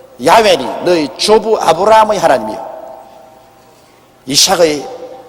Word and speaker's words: 야훼: 바로 그 사닥다리 꼭대기 위에 야훼 하나님이 계십니다. 여호와란 말은 원래 올바른 히브리어 발음은 야훼입니다. 야훼란 발음이 우리 한국식으로 번역해서 여호와라 하는데 원래 정확한 발음은 야훼 하나님이신 것입니다.